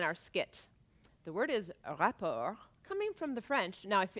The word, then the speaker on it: rapport: easy harmonious rapper but you don't say report because that's what you're filing when